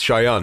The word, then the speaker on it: Shayan: Learn how to say it right, man. Let's say it's the Shayan. It's Shayan. Yeah, that's how you say it.